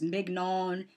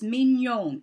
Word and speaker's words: Mignon: Every time I hear it's Mignon. No, it's Mignon. It's a French word. It means cute. That's what her name means.